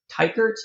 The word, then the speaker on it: Teichert: Is it Teichert? Teichert? Yeah, You know how to Teichert say works. this? Yeah, yeah, Teichert.